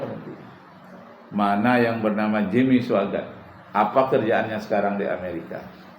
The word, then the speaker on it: Swaggart: Swaggart tuh tulisannya Swagarte. Bacanya Swaggart. Suanya itu pakai W.